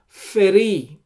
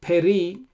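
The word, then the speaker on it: פרי: Here we say Asher Bo Feri. It doesn't say Peri as in the previous verses.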